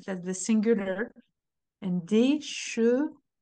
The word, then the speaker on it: chevaux: Chevaux. Donc, un cheval, a horse. Des chevaux, plural. O. Des cheveux. E. O. E. O. E. You see my lips? They are quite extended when I pronounce O.